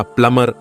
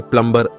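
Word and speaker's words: plumber: दूसरा उदाहरण प्लम्बर का देख लीजिए। अंग्रेज इसका प्लमर उच्चारण करता है और भारतीय प्लम्बर ऐसा उच्चारण करता है।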